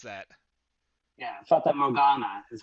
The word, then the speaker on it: Fata Morgana: How do you pronounce that? Yeah, Fata Morgana is how Okay.